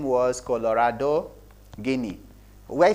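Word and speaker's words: Gini: about what we call guinea index okay it all depends on how you pronounce it maybe genie index i'm not an english scholar genie index or guinea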